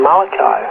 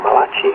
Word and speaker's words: Malachi: On the last page of the Old Testament, in Malachi, or Malachi, however you want to pronounce it, chapter 4, verse